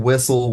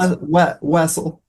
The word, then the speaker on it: Wessel: Uh I've been called Wessle. Whistle. Whistle. Weasel. Russell. But Wessle works. Okay. How do you pronounce it? Just for our audience. Wessle.